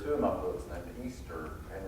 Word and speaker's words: Easter: Yeah, there's a character in two of my books named Easter, and it's spelled E-A-S-T-E-R, but about half the people I talk to pronounce it Esther, which I've never understood.